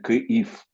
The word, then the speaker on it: Kyiv: Donc, depuis combien de temps on doit dire Kiev et non Kiev Kiev, c'est en russe. Mais en en russe? Ukraine, Oui, prononciation en Ukraine, c'est Kyiv.